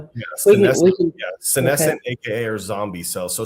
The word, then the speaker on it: senescent: the medical space necessarily, scinsesscent, how do you spell that? Is that how did I say it right? Yes. Scinsesscent cells.